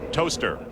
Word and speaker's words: Towcester: Incidentally, Towcester is pronounced toaster, if you're asking for directions.